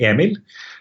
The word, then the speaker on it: Emil: Well, the Norwegian way is pretty hard for any English speaker. So it's normally Emil, but it just turns off.